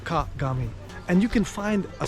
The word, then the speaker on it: kagami: Well, mirror in Japanese is called kagami. 3 syllables, kagami.